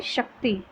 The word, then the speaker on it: शक्ति: शक्ति, शा बोलेंगे शक्ति, कर्तव्य, द्वेष, शुद्ध, मर्यादा, शुचि।